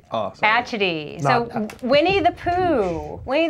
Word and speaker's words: Atchity: No, so, it's pronounced Atchity. Oh, sorry. Atchity.